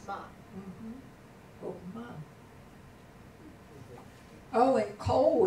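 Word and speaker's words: כל: Oh, and Kol is another example of a Kametz Hatuf. Yeah, okay. Kol, it always says Kol.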